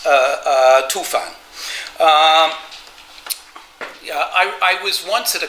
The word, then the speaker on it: Tufan: less than Paul Pelliot that this cannot be pronounced Tubor, that it should be pronounced Tufan.